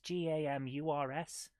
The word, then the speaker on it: Gamurs: And then the new owners of the magazine, a company called Gamers, Gamurs, Gamers. I think it's supposed to be pronounced gamers, but it's like gamers.